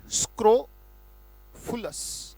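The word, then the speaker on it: scrofulous: स्क्रोफुलस, right. एक बार उच्चारण बोलेंगे, फिर से बोले स्क्रोफुलस।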